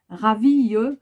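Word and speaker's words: ravie: Alors attention, il faut ajouter un E muet au féminin de l'adjectif ravi si vous êtes une femme. Donc ravi, mais le E ne se prononce pas, de faire ta connaissance ou de faire votre connaissance.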